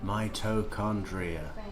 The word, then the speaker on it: mitochondria: mitochondria. It'd be balanced. Well, thank you, Paul M. Mitochondria. So, the H is uh is silent.